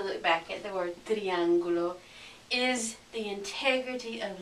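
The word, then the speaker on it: triángulo: word so for example it's triangulo it's not triang or it's not triang it's triangulo okay let me give you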